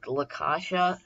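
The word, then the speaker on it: La Caccia: my favorite scores in horror we've got it lakasha it's that's how you say it in Italian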